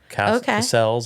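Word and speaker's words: Casals: the men right so her Rosie Castle right that's how you pronounce it and then Nancy Richie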